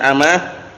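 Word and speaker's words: أمة: Wah, perhatikan, bukan ummah, bacanya amah.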